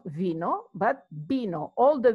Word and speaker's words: vino: people will pronounce it vino no in Spanish the V and the B are the same they're pronounced B so you will have B no not vino but B know all the V and